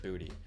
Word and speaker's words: Boutte: Or Booty. I think it's actually pronounced Booty. I just keep saying Boutte because I remember from the Debbie days.